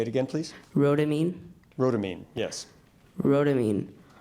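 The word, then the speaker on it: Rhodamine: water ramine ramine am I seeing am I pronouncing it properly say it again please rodamine ramine yes rodamine r o d a m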